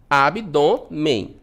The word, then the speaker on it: abdômen: Abdômen, tá? Sílaba tônica, o dó, né? Abdômen, terminado em N. Paroxítona terminada em N, olha só a nossa regrinha aqui, recebe o acento, tá?